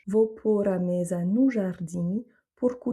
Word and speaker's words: jardim: le OU et jardim, donc là on a le son nasal IM, donc jardim, pour que, ici on a